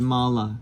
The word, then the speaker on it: mala: so and then and so if it has that line over the top, you know it's the long sound, just like this word mala, right?